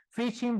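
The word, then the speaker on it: phishing: veces se generaliza tanto fishing viene la palabra de Fish suena parecido aunque se escribe con p de pescar y y el ing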